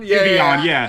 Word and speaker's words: Giveon: Is it Givon? I don't know how to say his name. I know Giveon. Giveon.